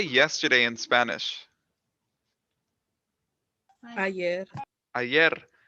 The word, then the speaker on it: ayer: Ayer. Ayer. This word is pronounced yer.